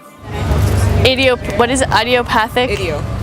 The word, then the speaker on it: idiopathic: Idiopathic? Idiopathic. Like an idiot. Okay, idiopathic. Angioedema.